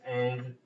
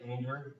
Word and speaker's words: Ingres: One of them, Jean-Auguste Dominique Ingres is pronounced Ang, right? Almost like anger, but not quite Ang. Hang is, I guess, the closest to it, right?